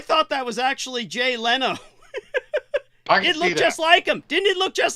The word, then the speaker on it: Leno: and you know what I was pronouncing it I kept saying Jay Leno I europeanized it and my game brother Beaver said it's it's Leno don't try and dignify